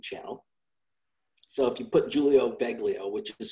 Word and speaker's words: Giulio: started a youtube channel so if you put julio baglio which is spelled with a g g i u l